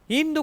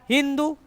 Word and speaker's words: हिंदू: इन्होंने जब उच्चारण किया, सा को बोला हा, और धा को बोला दा। तो ये क्या हो गया, हिंदू, हिंदू नदी, उन्हीं के नाम पर क्या पड़ गया, हिंदुस्तान।